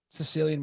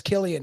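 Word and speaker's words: Cillian: Yeah, Cecilian Murphy. Yeah. Is that how you say his name? Oh, it's Killian.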